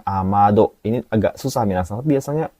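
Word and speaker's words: 雨戸: Bacanya jangan amedo atau ameto, tapi amado.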